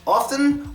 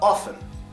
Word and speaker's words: often: E gets schad now if you want to pronounce the T sound you can but a lot of people don't but in this word